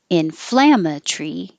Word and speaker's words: inflammatory: Inflammatory. You can make it short. The Tory can be tree. Inflammatory here. Or it can be Tory. Inflammatory.